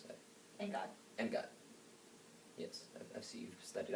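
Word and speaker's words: Angad: I'm always confused on how to pronounce that. Engad.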